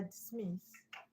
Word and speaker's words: dismiss: So that's why dismiss, which is a verb, is stressed on the second syllable.